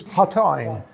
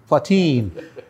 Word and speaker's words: Platine: the new Beretta 2 and legacy Platine, often mispronounced in Indianapolis. Well, it might be. It's Platine. Platine.